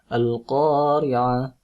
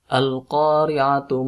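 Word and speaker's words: القارعة: Al-Qari'atu mal Qari'ah, ya. Jadi kalau misalkan diwasal atau dilanjut bacanya, huruf belakangnya dibaca. Al-Qari'atu mal Qari'ah. Kalau tidak diteruskan, ya, cukup diwakafkan.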